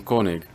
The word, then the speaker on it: Koenig: Or if you're a fan of Marvel's Agents of SHIELD then Koenig is pronounced Cone-nig.